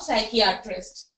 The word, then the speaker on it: psychiatrist: Now this is the spelling of psychiatrist. Sure. Okay, so here psychiatrist, P is silent.